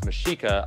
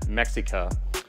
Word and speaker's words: Mexica: in this episode i didn't know it was mashika i said mexica uh and i mispronounced it first of all omar that is